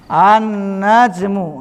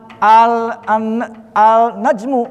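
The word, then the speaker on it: النجم: Annajmu. Nah dibacanya bukan alnajmu bukan.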